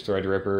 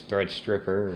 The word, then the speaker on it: Threadripper: I do believe it's Threadripper, rather there it's Threadstripper or something.